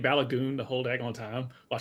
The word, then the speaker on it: Balogun: Just yeah, the American and the English pronunciation of his last name is Balogun, and that's all what I've always heard. But I think the Nigerian, she's actually pronouncing it the Nigerian way.